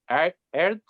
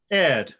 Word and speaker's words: Aird: pronunciation of the name, Erd. Is like this? Yeah, correct. Perfect Can pronunciation. you say it? Can you say it for us? Erd, Erd. It's a Scottish name, apparently.